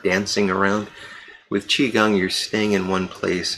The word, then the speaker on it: Qigong: So for the past year, I've been doing a form of exercise that's called Qigong. It's Q-I Gong, G-O-N-G. Qi, Q-I is pronounced Qi Gong.